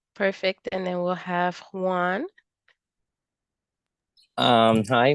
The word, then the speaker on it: Juan: and then we'll have Juan um hi my name is Juan uh I pronounce Heim uh I did my